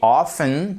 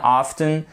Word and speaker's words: often: chez Horton ou she offen c'est comme vous voulez c'est juste une question de style les deux sont parfaitement valables pour prononcer souvent soit offen often Soshi Ofen it lunch